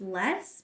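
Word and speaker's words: loess: is moved uh we can get something it's pronounced less but it's l o SS and a less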